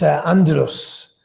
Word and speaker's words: Andros: He said, it's Andros. I was like, right, okay, Andros.